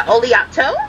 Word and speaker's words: Oleato: yes can I get the how do you pronounce that oletto the oleato oleato okay yeah can I go ahead and